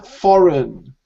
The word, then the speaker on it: foreign: But in this case, the G, unexpectedly, it's silent.